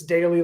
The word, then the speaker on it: Dailey: um it's our it's our last name is spelled with an E so it's daily like daily but add an e in there um and it's available